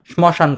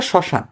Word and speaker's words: শ্মশান: কিন্তু অনেকেই শ্মশান এই শব্দটা উচ্চারণ স্মশান করতে পারে। স্মরণরে স্মরণ বলতে পারে। বলতে পারে না? স্বাভাবিক বলতেই পারে।